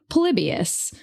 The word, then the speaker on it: Polybius: And the game is called Palibius.